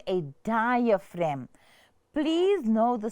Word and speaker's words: diaphragm: which is called a diaphragm. Please know the spelling. It mustn't be diagram. It's diaphragm. So this ph is pronounced as an f and then r a g m ram. So diaphragm.